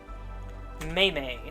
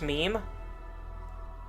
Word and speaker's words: meme: Maymay, huh? That's not how you pronounce meme.